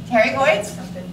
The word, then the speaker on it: pterygoid: The first letter is silent. It means its name means wing. Pterygoids?